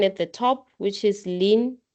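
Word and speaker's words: ln: So to differentiate a lean anything, is going to be 1 over whatever is next to this. We call it lean. We pronounce it as lean. This in is lean. Just say lean.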